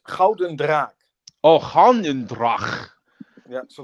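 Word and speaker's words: Gulden Draak: Ooh, Gulden Drach. How do you say that, man? Did I do it right? In Dutch or in Dutch? Yes. It's Gouden Draak.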